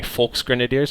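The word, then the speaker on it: Volksgrenadier: it's terrible I know it should be more of a softer V like a folks grenadiers almost an F uh but I'm a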